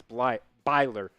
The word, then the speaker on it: Byler: I keep wanting to say Blyer, but it's Byler.